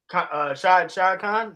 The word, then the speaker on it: Shad Khan: Shad Khan.